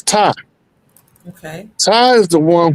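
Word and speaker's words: Ptah: Oh, if people pronounce it Patah, I've been pronouncing it Patah. It's Ty. Okay. The P is silent.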